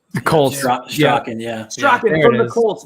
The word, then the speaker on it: Strachan: His name is, I don't even know how to pronounce his last name. It's Mike Strachan or Straken. The Colts. Strachan, yeah.